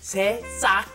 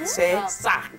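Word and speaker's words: 새싹: called sesak. Bibimbap, right? Sesak. You gotta be careful on that pronunciation there.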